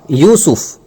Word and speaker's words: یوسف: کھلا ہوا دشمن ہے۔ اس سورت کا تلفظ ہے سورہ یوسف، یوسف نو، یوسف، اور اس پوری صورت